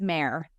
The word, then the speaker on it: Maehrer: spelled weird it's just may may like a horse or Mar down yeah exactly yeah it's a funky spelling for a really easy pronunciation for some reason and